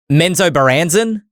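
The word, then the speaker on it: Menzoberranzan: challenge myself to pronounce this I heard it pronounced like three times menso baranzen yeah you done did it that's how you pronounce it great uh the Neverwinter MMO is getting amenzo baranzen expansion uh which was originally authored or is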